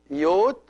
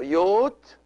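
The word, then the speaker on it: ⲓⲱⲧ: word is father so yot is father the yota at the beginning of this of this syllable is pronounced like a y because it's followed by another vowel so it is power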